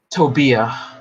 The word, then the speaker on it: Tobia: what I mean sometimes how do you say the name tobia or tovia tobia will that be yeah with a B my grandpa calls her